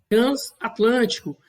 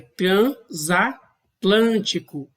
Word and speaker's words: transatlântico: A divisão silábica correta é transatlântico. Perceba que aqui eu não levo em consideração o elemento mórfico, o prefixo que foi formado com essa palavra, e sim o conjunto de fonemas que são emitidos em cada impulso de voz. Eu pronuncio transatlântico.